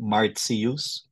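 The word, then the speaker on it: Martius: februus March is marus take note of the pronunciation t followed by I and another vowel it's like as if there is a letter s there marus April is ailis aprilis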